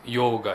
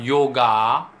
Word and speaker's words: yoga: with is yoga itself so yo it's not yoga it's yoga right so those of you who are essentially watching this you may repeat after me hi Shannon yoga so the last a is not completed as aa but as up right so if you